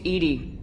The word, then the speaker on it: EDI: have a specific inquiry why are you named Edie Ed is the phonetic pronunciation of Eed that is an acronym for